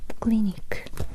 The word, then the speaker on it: クリニック: It's a clinic. The same pronunciation, similar pronunciation. Clinic. Let's say together. Clinic. Remember, Japanese R. The sound is like la la la la la. So, clinic. Not clinic. Clinic.